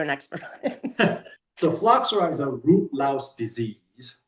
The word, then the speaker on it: phylloxera: How do you pronounce it? Phylloxera.